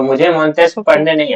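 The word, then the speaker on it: Montesquieu: तो फिर वो मुझे प्रोनाउंस करके बता देता है कि अच्छा ये मॉनटेस्ट क्यों नहीं है? ये मॉनटेस्क है।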